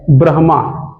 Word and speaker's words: ब्रह्मा: तो मूल उच्चारण क्या है? ब्रह्मा। ब्रह्मा ब्रह्मा ऐसा बोलते हैं।